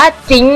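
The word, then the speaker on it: Jhin: เรียก ผิด อยู่ กัน จน แบบ นะ บาง ที เล่น ๆ อยู่ ก็ แบบ จิ้น จิ้น ยิง จิ้น เออะ คือ แบบ อ่าน ว่า จิ๊ง นะ คะ อ่าน ดี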